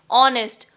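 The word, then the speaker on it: honest: अब before words beginning with a silent H, जहाँ पे एच साइलेंट होता है, जैसे कि एन ऑनेस्ट मैन, यहाँ पे देखिए स्टार्ट तो ये एच से हो रहा है, लेकिन जो इसकी प्रोनाउंसिएशन आ रही है वो हमारे पास ऑनेस्ट, ओ वोवल साउंड पहले आ रही है,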